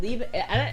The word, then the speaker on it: liebe: Is it liebe? You don't pronounce the E there. It's ich liebe du Astra, right? You wouldn't say the lieb unless you were like, fuck, dude.